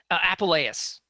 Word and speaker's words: Apuleius: So you, your description of the author of The Golden Ass, would you pronounce his name again? Apuleius.